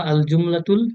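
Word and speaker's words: الجملة: জুমলা মানে হচ্ছে বাক্য, মানে ঠিক আরবিক উচ্চারণ করতে গেলে আল জুমলাতু, আর একটু উর্দু টাইপের উচ্চারণ করতে গেলে জুমলা।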